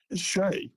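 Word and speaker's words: Skjei: last name Brady ski is it ski Shay Shay Brady Shay okay Brady Shay so he he got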